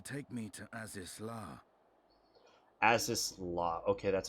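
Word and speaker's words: Azys Lla: an Airship to take me to ASIS la as this law okay that's how it's pronounced I'm actually surprised he isn't getting uh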